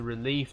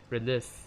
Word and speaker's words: relive: that to want to relieve that moment once again relive i mean that's the right pronunciation really not relief he doesn't want to